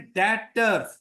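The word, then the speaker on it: debtor: टर भी साइलेंट करना पटर नहीं पढ़ना इसको इसको पढ़ना है डेटर गट इट अच्छा या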